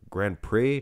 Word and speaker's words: Grand Prix: The X is silent. Grand Prix?